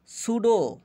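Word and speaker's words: pseudo: ঘনিষ্ঠতা প্রুডেন্ট বিচক্ষণ সতর্ক সুডো সুডো এখানে পির উচ্চারণ হবে না সুডো পি এস ইউ ডিও সুডো ছদ্দ ভুয়া ছদ্দনাম সুডেনিয়াম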